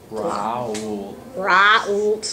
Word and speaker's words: Raoult: Raoult's law.